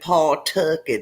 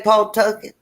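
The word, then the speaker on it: Pawtucket: her oh uh dylan wants me to say paul took it again paul took it is that what i ain't wanna tiffany say paul tucker paul tuckett narragansett new ham new port what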